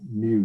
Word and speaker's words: mu: So you pronounce it mu, Greek letter, which is also the expected value of x, okay, which is this formula.